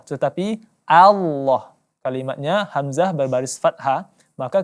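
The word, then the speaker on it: الله: Kemudian pengucapan lafzul jalalah diantaranya yang banyak disalahkan, yakni mengubah lafzul jalalah lam menjadi o, yakni tentunya salah. Walaupun bunyinya memang seperti o, tapi bukan o, hanya saja ditebalkan.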